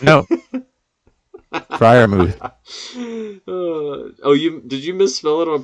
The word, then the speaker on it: Freiermuth: Pat Freiermuth? No. Freiermuth. Did you misspell it on purpose?